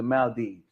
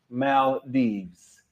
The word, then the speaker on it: Maldives: like to go to the Mal Dives I was like oh I'm sorry I'll say it right the next time so y'all heard me if you're watching tonight I learned my lesson okay Mal Dees okay so we know